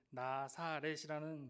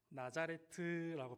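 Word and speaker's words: נָצְרַת: 이렇게 그 나짜르라고 발음을 하거든요.이 나사렛이라는 말은 한국식 발음이에요. 그렇다면이 나사렛이라는 단어를 원어로 읽어 보면 어떻게 발음할까요? 나자레트라고 발음을 하거든요.이 나짜르 나자레트라는 이제 말로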